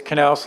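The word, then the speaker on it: Knox: It's Knaus like knife.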